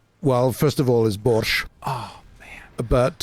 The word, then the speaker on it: borscht: is Bush Oh but finally somebody who pronounces borscht the way way I mean there's no T I mean it's really hard to explain to people but yeah Russians never see borscht it cuz it's borscht it's just borscht behind